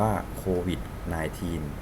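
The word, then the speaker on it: COVID-19: โค วิช ใน ทีน อ่าน ว่า โค วิช นาย ทีน ย่อ มา จาก โค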